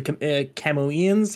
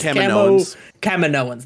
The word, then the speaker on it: Kaminoans: I think that the interesting moment towards the end when you see the Camoeans. How do you pronounce this? Kaminoans. There we go.